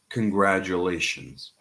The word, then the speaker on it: congratulations: Lilith asks, what about congratulations? Similar strategy. You can just divide it into syllables.